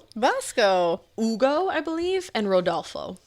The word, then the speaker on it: Vasco: They were Aldo, Vosco, Vasco, Ugo, I believe, and Rodalfo.